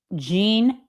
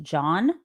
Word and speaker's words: Jean: He called him Jean Luke Brunell. Jan J an in French is pronounced John.